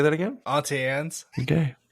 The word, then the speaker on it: Auntie Anne's: I say Annie Ann's, and I'm sure that that's not the right way to say it. You I guys don't are know. probably saying it right. I don't know. Is it so? I've heard some people called it Auntie Annie's, and I'm like, that's not right.